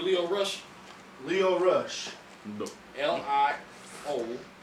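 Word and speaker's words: Lio Rush: L-I-O Rush. L-E-O. No, it's L-I-O. No, Lio. no, So it's not Leo. Not Leo like Leo Getz or Leo DiCaprio. Lio.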